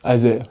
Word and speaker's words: Isaiah: So the correct pronunciation is? Isaiah.